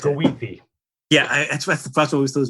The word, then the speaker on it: Goethe: It's pronounced Goethe.